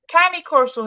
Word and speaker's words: Cane Corso: Just remember, She's it's from amazing. Italy, right? It's from Rome. So try and pronounce it like you're an Italian.